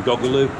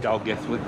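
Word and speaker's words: Dolgellau: Or if you read it on the map, it sounds like it's saying Doggaloo. That's it on the sign there, yeah, eh? Pronounce it Dalgethley.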